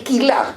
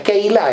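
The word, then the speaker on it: קהילה: Eh, en vez de Keilá, aquí hay gente de Ladino que sabe mucho, eh, es quilá, pero bueno, es Keilá en hebreo.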